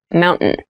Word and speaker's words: mountain: you pronounce this word in fast speech it sounds like mountain the t sound is reduced the little town was